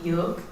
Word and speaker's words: Yölk: With the O with the stops. What do you call that? Umla? Yeah. So it's actually pronounced Yölk. Yeah. It has that Swedish.